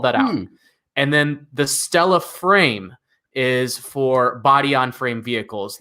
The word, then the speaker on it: STLA: the next few years there is stla or uh the executive is actually pronounced at stella uh stella small stella